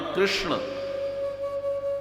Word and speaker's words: कृष्ण: आजकल कृष्ण को कृष्णा कहते हैं। जय श्री कृष्णा। है ना? योग योगा हो गया। कृष्ण कृष्णा हो गए और हमारे यहां संस्कृत